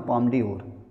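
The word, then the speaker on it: Palme d'Or: है उसका नाम है पाम डिओर आधा ला इसम साइलेंट है पाम डी ओर ठीक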